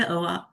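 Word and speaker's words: Oahu: was in O how do you say Aahu Aahu on the island of Aahu the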